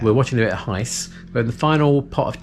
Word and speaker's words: Gijs: ducktales it is so it's heist van or winklehoff no laughing at the back that's his actual name we'll leave a link to his channel up there it's not it's not spelt heist it's spelled g-i-j-s he's from the netherlands we're going to watch